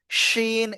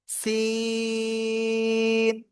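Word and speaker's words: سين: চার আলিফ টেনে পড়তে হবে চিকুন আওয়াজে। শিন এরকম না, সিন।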